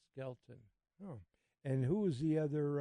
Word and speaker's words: Skelton: skeleton and skeleton who skeleton I keep pronouncing that wrong SK and Skelton and who was the